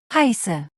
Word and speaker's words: heiße: You pronounce them as long double S sound, similar to a snake hissing. Listen to the sound in these words. heiße, heißt, No, you don't.